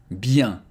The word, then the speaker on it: bien: I, E, N together it becomes Bien Bien le bonjour Again, very old fashion.